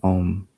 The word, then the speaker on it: Om: Bell to symbolize the four stages of ohm the three syllables AUM and the forth silence